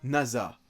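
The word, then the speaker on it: 星空: Résumé, le prénom de Yuzaki Nasa, un collégien studieux, s'écrit avec le kanji de nuit étoilée, mais il se prononce Nasa.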